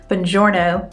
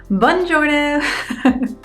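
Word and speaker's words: buongiorno: learning how to pronounce the normal Italian greeting which is Bongiorno by the way and not bun Jonas I want to remember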